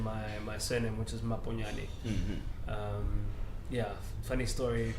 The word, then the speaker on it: Maponyane: my surname which is my pony Ally yeah funny story kids in primary school couldn't pronounce my surname which they used to pronounce my poonanny oh you're white school